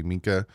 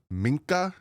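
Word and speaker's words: Minkah: They want me to say minka. Like really pronounce the n in minka. Uh they think I'm saying ma. I'm not. I'm saying minka but I'm saying it quickly. So minka. There's little you can hear the n in there but I'm not saying ma.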